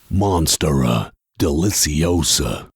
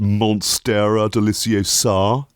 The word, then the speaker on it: monstera deliciosa: the most dramatic and mind-boggling of all is monstera deliciosa oh yeah actually i think you'll find it's pronounced monstera deliciosa oh well i was cringing a little bit